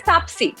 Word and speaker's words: Taapsee: Mine is Taapsee. It's not Taapsee, it's Taapsee Pannu. But that's okay. I like your pronunciation.